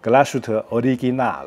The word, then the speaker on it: Glashütte Original: 我觉得要是一个地道的德表表迷呢，应该会用德语念这个品牌 Glashütte Original。